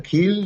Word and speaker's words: Kiel: de Alemania, al puerto se escribe Kiel en español, se pronuncia Kiel en alemán, y ese fue mi primer contacto con Alemania.